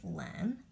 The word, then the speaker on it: LAN: but I think that people do pronounce it LAN when I was much